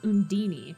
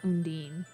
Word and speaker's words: Undine: In this game, they pronounce it Undini, not Undine.